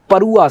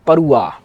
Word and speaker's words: परुआ: हो हो परुआ सोइल परुआ अच्छा नाम ना प्रोनंसिएशन दिमाग में रखिएगा नाम की स्पेलिंग थोड़ी चेंज होती रहती है जैसे परुआ को परवा भी लिखा हुआ है पड़वा भी लिखा हुआ है पडुआ भी लिखा हुआ है पड़ी हुई